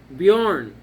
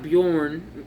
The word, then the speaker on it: Bjarne: After Joel Hanley, we have Bjarne, Bjarne, Bjarne, not Bjorn, I guess that would be spelled with an O, but Bjarne, Joel Hanley, Bjarne, Liam S.